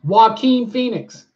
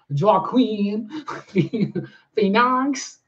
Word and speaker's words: Joaquin Phoenix: you can you can Alicia spelled it out for me phonetically so now it's visually in my head when I want to say Joaquin Phoenix so now I no longer say draw Queen phenox yeah oh yeah John